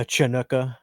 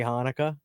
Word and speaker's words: Hanukkah: A Chinooka. I was watching Sydney show me something. Cameo posted a video that Smokey Robinson shared. He didn't know how to say Hanukkah, so he's pronouncing the C in it.